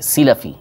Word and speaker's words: سلفی: رحمۃ اللہ تعالیٰ علیہ، سلفی سین کے زیر کے ساتھ لام کے زبر کے ساتھ، تلفظ یہ ہے اس کا صحیح، سلفی وہ ایک دوسرا تلفظ ہے، وہ یہاں پر مراد نہیں ہے، یہاں پر سلفی، یعنی